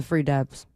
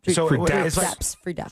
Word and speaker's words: Free Daps: Nice guys, the Free Dabs. Free Dabs? Free Daps. Free Daps with a P? They're very good rappers. I don't want to say it wrong. Free D-A-P-S? Yes.